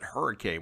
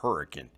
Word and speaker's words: Hurricane: we have hurricane but we don't pronounce it hurricane we pronounce it hurricane so you better get it right that's exactly